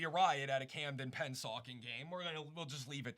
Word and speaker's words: Pennsauken: But Camden and is it pronounced Pennsauken? Pennsauken.